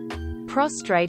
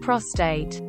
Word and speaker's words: prostate: otherwise it's pretty Elementary prostrate instead of prostate the first is lying face down the second an incredible orgasmic gland deep inside males often